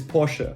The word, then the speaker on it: Porsche: parsha that is the correct german way of pronouncing it it is porsche perfect i don't want to hear any comments